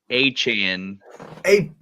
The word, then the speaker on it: Achane: And then I don't know if you saw this too, but Devon Achane. Not Achane. Came out about anymore, the pronunciation. Yeah. So the debate is like, over. It's Achane.